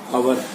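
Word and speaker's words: hour: से पहले द और आवर से पहले एन, क्योंकि एच साइलेंट है यहाँ पर।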